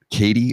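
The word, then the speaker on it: Caity: of the Year 22 for EP titled now pronouncing KT Georgie and in 2023 for debut LP featuring so she's won twice Katie or k t k t c a i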